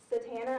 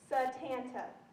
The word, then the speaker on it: Satanta: Satana, I asked. No, he said. Satanta. It's spelled Satan with a T-A.